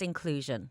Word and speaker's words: Incluzun: Now, we're going to talk about the Inclusion Awards, but now your company it's Incluzun, spelled with a Z, but pronounced Inclusion.